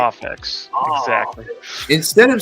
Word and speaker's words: Mafex: a new way that I'm exclusively going to pronounce it. So Mafex, right? Mafex.